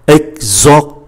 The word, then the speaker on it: exactement: Exactement, exactement, chúng ta phải phát âm cái chữ T một chút, không phải exactement, exactement, mà cũng không phải là exactement, nó phải có cái âm T.